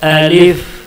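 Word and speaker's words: ألف: अलिफ अलिफ अलिफ ये मुंह के खाली हिस्से से निकलता है। मुंह के जो अंदर का खाली हिस्सा है उस खाली हिस्से से अलिफ निकलता है।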